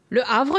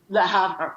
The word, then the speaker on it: Le Havre: other places like, okay, I'm not going to pronounce, Le Havre? Le Havre, yeah. Le Havre, right.